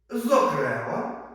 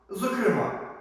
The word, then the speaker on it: зокрема: Запам'ятайте слова з подвійним наголосом. Бажаний, бажаний, беззахисний, беззахисний, зокрема, зокрема доповідач, доповідач, допоміжний допоміжний весняний.